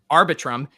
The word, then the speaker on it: Arbitrum: Is it Arbitrum? Arbitrum.